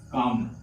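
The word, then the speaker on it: comb: है साइलेंट होता है एम के तुरंत बाद अगर बी आएगा कभी भी तो क्या होगा बी साइलेंट होगा तो इसे हम पढ़ते हैं काम क्या पढ़ते है काम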